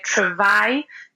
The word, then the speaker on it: travail: For example, people would say travail, and they go tr instead of tra, let's say.